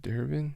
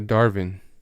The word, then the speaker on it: Darvin: assistant coach from the bucks um is it durbin let me see i'm gonna look it up for you guys because i don't want to get his name wrong where is he a darvin that was close darvin ham who coached kobe